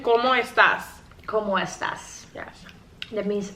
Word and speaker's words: ¿Cómo estás?: I know como esta. But you need to say it like a question. ¿Cómo estás?